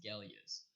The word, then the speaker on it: Galios: The name of the lens is Galios.